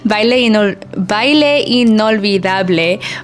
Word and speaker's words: Baile Inolvidable: Baile Inolvidable by Bad Bunny.